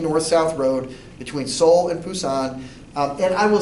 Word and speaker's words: Pusan: And though I don't speak Korean, I think that the consonant there is somewhere in between a B and a P.